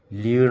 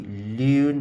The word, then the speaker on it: lune: Lune, remember we said that words at the end of a word in French ending with the E is not pronounced. So this should be lune, not lune, no. Just lune.